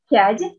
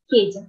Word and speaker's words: кядь: Он редуцируется и произносится как "е". Если в литературном языке "кядь", то в диалектах "кедь" Во многих диалектах этот звук не сохранился.